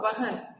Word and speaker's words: वहन: ठीक है, बार बार व और ब का उच्चारण करने से आपको उच्चारण के समझ में आ जाएगा। ठीक है, जैसे देखो बहन और वहन, वहन अलग चीज है और बहन अलग है।